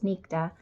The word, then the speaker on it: Nikta: My cat Nikta, pronounced Nikta, and meaning night in Greek, broke his leg.